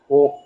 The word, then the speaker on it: ஓம்: இந்த 3 சேர்ந்தது தான் ஓம். ஆ ப்ளஸ் உ, ஓ, மா இருக்க, அது வந்து சேர்த்தோம்னா ஓம் சொல்லி வரும்.